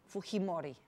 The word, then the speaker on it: Fujimori: If we give it a good Spanish pronunciation, that J is soft, so it's what? Fujimori, no?